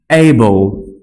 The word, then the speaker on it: able: এই ই থাকার পরে ওই ঠিক সাইলেন্ট ই এর মতো এটার কোনো উচ্চারণ হবে না। ইংরেজি ওয়ার্ড যতগুলো পাবেন সবগুলো ওয়ার্ডের শেষের দিকে এই যদি এল এর সাথে ই থাকে, ই এর কোনো উচ্চারণ নেই, তার মানে ই কে